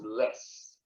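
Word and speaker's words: loess: takes the dust into the river this is pronounced less so these were the early peoples who lived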